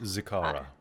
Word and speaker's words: Zikara: we anticipate that this battle with, how do you pronounce her name again? Zikara.